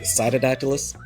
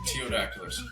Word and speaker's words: Ptyodactylus: Is it cyodactylus? Is that how you pronounce it? No, it's actually super easy. The the P is silent. It's just teodactylus.